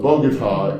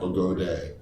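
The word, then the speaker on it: Bogotá: So Bogota is pronounced Bogota. Yeah, Bogota, Bogota, not Bogode, is not long A, as in lame brain.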